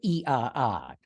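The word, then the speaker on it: IAA: yeah you know they they call that show the i AA or as they pronounce it in Germany the EA so if you want to be cool and talk like you know what's going on call it the EA in Munich and uh the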